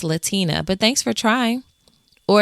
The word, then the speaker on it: Latina: When someone said the wrong version of my name, I'd say, "Actually, it's Latina, but thanks for trying." Or if they mispronounced it, I gently correct them with a smile.